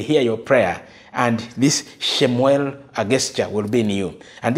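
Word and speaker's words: שמואל: that she received and somewhere in Hebrew is pronounced shemuel now shemuel means Heart Of God of course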